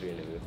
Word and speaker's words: Rien Nouveau: Yeah, I know how to pronounce it now. I saw the comments. Jewelry. I'm just kidding, it's Rien Nouveau.